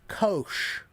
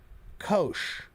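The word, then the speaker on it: Kocs: It's pronounced Kosh. Kosh.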